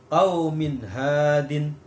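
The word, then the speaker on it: قَوْمٍ هَادٍ: Jadi membacanya harus jelas. Salamun hiya. Salamun hiya. Ya. Contoh yang kedua, qaumin hadin.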